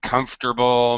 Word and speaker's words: comfortable: you guys comments triple drop that middle vowel sound miserable comfortable yeah in